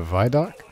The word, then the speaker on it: Vidoc: The Vidoc? It's a video documentary. Yeah, but it's called Vidoc. Vidoc. It's the same thing. Vi. Vid. Video Vi. Doc.